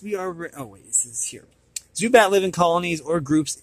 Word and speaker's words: Zubat: It is pronounced Zubat.